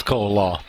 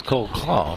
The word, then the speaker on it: Cole-Law: It is Cole-Law. I just immediately thought that was Cole Claw, but no, you're absolutely right, Herman. That's Cole-Law. We'll check with Steve on the pronunciation here in a minute.